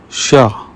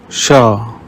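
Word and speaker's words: chat: Rules rule number one CH is pronounced like sh in the English word she here are some examples sha means Cat shows means thing machine means machine let's practice read the examples sha shows machine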